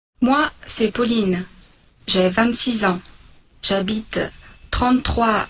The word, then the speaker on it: Pauline: Donc, un, ce n'est pas Pauline, c'est Pauline. Pauline.